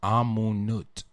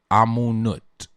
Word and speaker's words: Amonute: The name that she was given at birth was Amunut. Amonute is the way they spell it. Amunut.